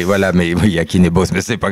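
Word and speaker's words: Jakin: Alors, c'est pas Jacquin. Oui. C'est mal prononcé, Yakin ou Yarin selon les... Voilà, mais Yakin et Boss, mais c'est pas grave.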